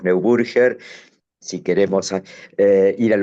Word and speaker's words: Neuburger: Estamos en Argentina, lo pronunciamos neburger. si queremos eh ir al origen alemán del del apellido que en Alemania es muy común, eh Snow Burger, pero sigamos adelante.